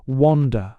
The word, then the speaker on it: Unda: The artiste of the hall is Unda, pronounced Wanda, a Polish girl.